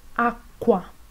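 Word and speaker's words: acqua: q u más vocal tiene una pronuncia más fuerte por ejemplo Aqua la er español española en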